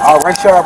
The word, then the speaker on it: Rayshard: Rayshard Brooks. How do you spell it for me?